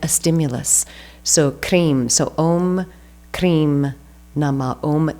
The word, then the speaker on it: Krim: And then the last one, Krim, so K-R-I-M. So the K, that is an initiatory sound. It's a hard consonant, and it's one of the strongest sounds, so it creates a very strong seed syllable, usually associated with Kali, sometimes with Shiva.